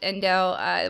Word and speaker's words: endl: This is an endl, pronounced endl.